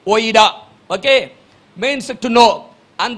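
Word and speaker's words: οἶδα: One is oida, O-I-D-A, pronounced as O-Y-E-D-A, oida.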